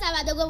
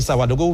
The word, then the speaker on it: Savadogo: Parce que là, quand j'avais dit Savadogo, vous m'avez tout de suite repris, c'est Savadogo, plus précisément.